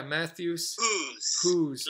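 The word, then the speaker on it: Matthias Hues: Matthew yeah so Matthews yeah Matthews who's like look who's talking that's what he says okay okay so so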